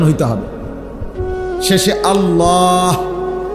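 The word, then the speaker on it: الله: শেষে আল্লাহ, শেষে একটা গোল হা আছে, ছোট হা।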